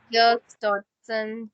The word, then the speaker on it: Yerkes-Dodson: is Yerkes-Dodson curve, if I'm pronouncing it Yerkes right.